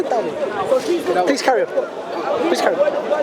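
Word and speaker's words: داود: How do you say David in Arabic? Dawood. You should say Dawood.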